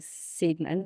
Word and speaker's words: Seidman: that well you know my name is spelled s e i d m an which phonetically should be pronounced Sidman yeah and probably was originally a pronounced Sidman my dad's a fresian Heritage and I think it was like ziton or something like that yeah but throughout his life throughout life everyone pronounces it Sidman but I grew up saying sedman because that's how it was pronounced in my family so I don't correct